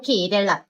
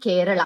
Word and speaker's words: Kerala: It's not Malayalam or Kerala. It's Malayalam and Kerala.